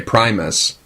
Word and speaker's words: Primus: But really, my name is pronounced Primus. Primus, yeah. Everybody says Primus, and I just got used to that, so whatever it is.